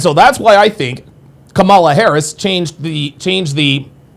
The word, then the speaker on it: Kamala: Well, I didn't vote for Camala. We know you're telling the truth because you pronounced her name the right way.